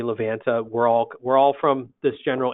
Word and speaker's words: Livanta: Google Play Store and search for the word Livanta. That's Livanta, Livanta. And in case you were wondering, we say Livanta.